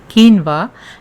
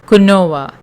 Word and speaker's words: quinoa: quinoa and guys please note that it is pronounced as quinoa and not as Canova ok add in some water and allow the